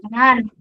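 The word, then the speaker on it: banaan: Benan. Yes, betul. Benan. Pokoknya kalau dia panjang bacanya agak diseret. Benan gitu.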